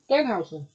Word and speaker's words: Danhausen: Um, Well, no, James, yeah, I'm going to stop you right there, and we're gonna say this correctly. One syllable, Danhausen. Danhausen.